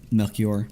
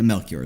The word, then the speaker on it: Melchior: Melchior? Yeah, Melchior is the pronunciation I prefer.